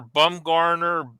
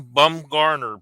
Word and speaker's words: Bumgarner: And sure enough, Kevin, there's one Bumgarner, Bumgarner in the yearbook. And he was saying that he couldn't pronounce it right. It's either Gardner or Garner without the D.